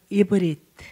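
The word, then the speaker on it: עברית: 이제 우리는 보통 히브리어라고 하는데 원래 발음은 이브리트.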